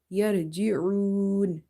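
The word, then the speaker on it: يرجعون: Ain is from the halkiya letters, and you have to feel that squeezing sound in your muscles in the neck when you say yarji'un, yarji'un. Okay, so it's a throat letter and it's from the middle of the throat.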